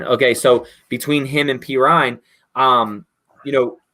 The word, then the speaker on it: Perine: that how you say his name yeah yeah pery pery okay so between him and perine um you know how do you think your